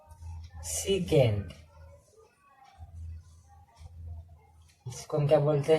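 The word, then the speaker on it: sec: और पांचवा है सीकेंट, इसको हम क्या बोलते हैं, सेक।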